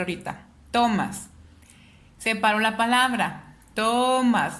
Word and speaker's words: Tomás: sílaba penúltima sílaba y empiezo a checar dónde lleva la sílaba tónica en tomas o tomas si me estoy refiriendo al nombre de persona yo me doy cuenta que está en el más entonces es una palabra aguda porque está en la